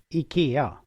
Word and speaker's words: IKEA: It's IKEA. IKEA. Oh, interesting. Okay. IKEA. Yeah. IKEA.